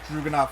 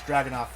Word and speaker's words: Dragunov: I don't know why I keep pronouncing it Duggenoff when it's Dragunov.